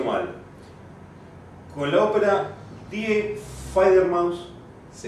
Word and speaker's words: Die Fledermaus: Corregime si lo pronuncio mal. Con la ópera Die Fledermaus. Sí, Die Fledermaus.